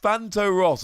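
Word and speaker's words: Phantoross: time we mention spectria it's pronounced fanto ross or the name is fanto ross over in german how cool is that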